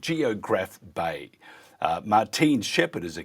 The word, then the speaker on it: Geographe Bay: I uh Geograph Bay is the correct pronunciation.